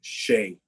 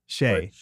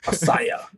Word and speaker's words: Hsieh: Usually we go with like Hsieh. Hsieh. Yeah. Okay. All right. But so I've heard any number of variations on that, and they're all valid because they all look at me when they're like, just, and I'm like, they pronounce the H too heavily.